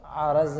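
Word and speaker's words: عَرَض: منطق فلسفہ میں جب جوہر اور عرض کی بات ہم لوگ کرتے ہیں، لفظ اصل میں ہے کیا؟ وہ عرض ہے، را پہ زبر کے ساتھ میں ہے، وہ زیر نہیں.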